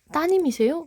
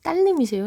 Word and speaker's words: 따님: 이거 우리 저 선생님 따님이세요? 라고 발음하지 딸님이세요? 라고 하지 않죠? 오케이. 음운 변동 현상에서 따님, 리을이 탈락이 됐습니다.